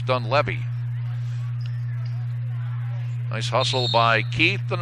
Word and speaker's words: Dunleavy: And she told me it's pronounced Dunleavy.